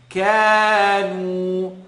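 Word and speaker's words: كَانُوا: The kaf is light. A lot of times we tend to kanu, ka. No. Kanu, kanu.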